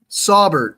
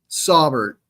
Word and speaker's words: Saubert: Saubert. Okay. Saubert. All right, cool. That's how you pronounce it.